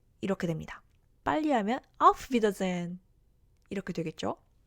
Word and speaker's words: auf Wiedersehen: 여기서는 wieder 해서 장모음으로 발음이 나게 되고요.